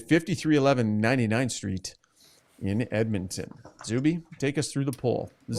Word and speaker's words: Zubie: Zubie, it's pronounced Zubie.